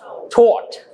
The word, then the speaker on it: taught: Tout. American pronounce this word as taught.